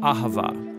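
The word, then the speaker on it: אהבה: languages as it is in ancient hebrew it's pronounced ahava it most basically refers to the kind of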